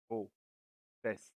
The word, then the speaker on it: profession: I pronounce each S separately, like an syllable different, like profession.